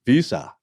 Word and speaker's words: Weser: the Weser River, and that's spelled W-E-S-E-R, and in German, it'd be close to Visa or Visa.